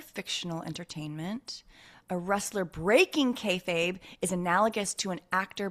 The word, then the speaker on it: kayfabe: I was saying K. But it's K A Y. K A Y F A B E.